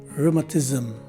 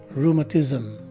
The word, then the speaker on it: rheumatism: we usually do as in zim with the swa sounding e in the middle so the right way to say this word is rheumatism again rheumatism this is the fourth